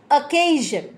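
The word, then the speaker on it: occasion: না অ কিন্তু নেই ইংরেজিতে ও সাউন্ড থাকে না সুতরাং ইটস অকেশন ও যদিও আছে স্পেলিংটার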